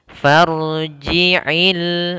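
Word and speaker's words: فارجع: Farji'i, farji'i, farji'il, ain jangan i tapi ai.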